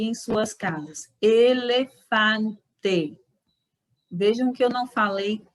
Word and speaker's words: elefante: vamos esquecer essa pronúncia na língua espanhola é e sempre é o ok continuando a letra